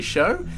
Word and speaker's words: SjoW: his name properly so the J is definitely silent I've been saying show for I don't know how many tournaments where he was in but it's definitely show and he is our